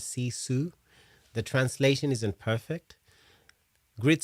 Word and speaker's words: sisu: So it's pronounced as sisu.